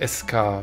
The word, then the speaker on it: Escha: nein mein Name ist escha oder eigentlich Eska wird's dann ja ausgesprochen im Spiel aber ich sag trotzdem